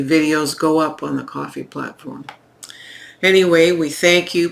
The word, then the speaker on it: Ko-fi: By all means, send us a coffee. Coffee is spelled Ko-Fi.